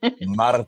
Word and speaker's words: Martin: Well, yeah, there's no R trilling. No rolling. Martin. Martin. Yes, Martin.